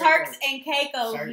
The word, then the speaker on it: Turks and Caicos: That's not how you say it. You fool. Like, you about to make me go off when you on this podcast. It is Shirts and Dracos. It's Turks and Caicos, not Shirts and Dracos.